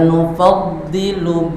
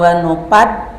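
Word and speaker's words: نُفَضِّلُ: Bersih, jangan tertukar dengan zo. Ada zo, ya kan? Ada zo, ada dha.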